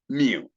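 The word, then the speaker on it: μ: at is me me written as you but it's not you the one we are having and pronounced as Mu this symbol represents the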